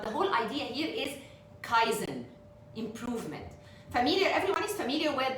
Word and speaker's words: Kaizen: Yeah, Kaizen, Islam, it's 2 syllables.